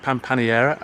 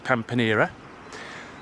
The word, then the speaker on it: Pampaneira: And then I realised the place I'm going to is not pronounced Pampaneira, as I've been saying, it's Pampaneira.